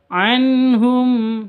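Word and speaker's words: عنهم: Anhum ini jelas bacanya karena bacaan izhar halqi. Izhar halqi itu bacanya jelas. Nun sukun bertemu dengan ha. Anhum. Nah, nun sukun dan haknya jelas. Anhum seperti itu.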